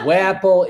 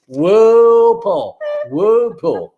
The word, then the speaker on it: Whoople: It's not Not Wapple. like No, it's not Wapple. It's not Whoople. It's not Whoopee. It's not anything. It's Whoople. Whoople.